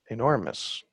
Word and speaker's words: enormous: three syllable word and the second syllable is stressed right enormous enormous so i've taken this